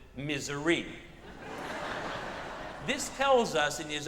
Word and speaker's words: Missouri: wrote in an essay, there are 3 proper ways to pronounce my home state. If you are born in my state, you pronounce it Missouri. If you are not born in my state, you pronounce it Missouri. But if you are born in my state and have to live your entire life in my state, you pronounce it misery.